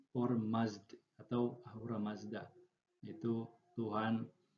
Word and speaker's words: Ormazd: Ketika dibaca ia menjadi Ormazd ya, Ormazd atau Ahura Mazda. Itu Tuhan cahayanya orang-orang Majusi. Jadi orang Majusi itu mereka meyakini ada kekuatan ke terang atau cahaya itu Ormazd dan kegelapan itu Ahrimen,